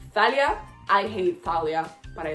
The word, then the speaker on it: Thalia: as I do for Talia because that's how I pronounce it in Spanish I don't care if it's Thalia I hate Thalia but